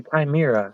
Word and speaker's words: chimera: Yeah, he ate something or other, and the H is silent, but it's a chimera, which is it's a merging of human and animal.